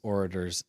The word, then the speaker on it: orators: Remember, plus loose orators sink sorcerers. Orators. I said orators. I thought you said orders. No, orators. I just say it with a long A instead of a short A instead of a long A.